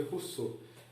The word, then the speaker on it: Rousseau: Se escreve Rousseau, mas se lê Rousseau.